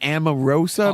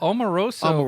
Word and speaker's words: Omarosa: last year they had what's a woman's name Amoroso I'm saying it right well Omarosa yeah Omarosa yeah sure it's caribou Qi yeah